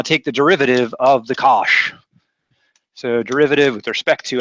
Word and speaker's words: cosh: The abbreviated name of this sucker right here is the hyperbolic cosine, COSH, pronounced cosh.